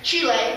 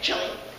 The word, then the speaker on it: Chile: Okay, so I'll be living in Chile, or as Americans say, Chile, for 10 to 11 months, leaving in August 9th.